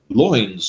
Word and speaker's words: loins: lovers take their lives loins of course is the way it's generally uh appreciated and understood but it's exactly the same pronunciation as the word lines would have had at the time so we're talking about